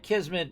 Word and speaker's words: Kismet: did but it's actually it's like Kismet meaning fate or destiny uh you're buttering me